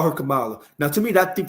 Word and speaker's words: Kamala: that her mother named her Kamala and it's pronounced Kamala I'mma give her respect because if she if